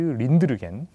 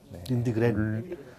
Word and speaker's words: 린드그렌: 그래서 그 이 법이 부모 체벌 금지법이 통과되기 1년 전인 1978년에 이제 스웨덴의 삐삐 롱스타킹으로 유명한 아동 문학가 아스트리드 린드르겐 린드그렌. 린드그렌 역시 발음이 어렵군요.